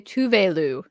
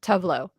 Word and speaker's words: Tuvelu: It's actually Tuvelu, not Tuvlo.